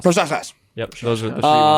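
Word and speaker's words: Procházka: No, it's Jiri Proskaskas. Proskaskas.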